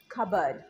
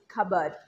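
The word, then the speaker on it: cupboard: যাবে না ইট is silent so the right pronunciation of this word is কাবার্ড কাবার্ড কাবার্ড না next ওয়ার্ডস মেনুতে কি আছে মেনুতে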